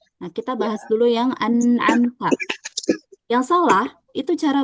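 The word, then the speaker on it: أنعمت: Yang betul kita baca dengan digabung semuanya tanpa ada jeda sedikit pun ya. Anamta.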